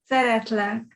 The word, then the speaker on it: Szeretlek: Szeretlek.